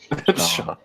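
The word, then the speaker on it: Siobhan: Sean. All right. It's spelled, medieval.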